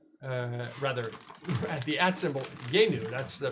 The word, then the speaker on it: Jeinu: For the terrific character sketches, please patronize him at symbol JAYNEW. Rather, at the at symbol Yenu. That's the pronunciation.